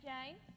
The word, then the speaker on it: Jane: And how are you this fine day, Calamity Jane? Want to play some cards? For the last time, it's Jan, Jan, with a silent E.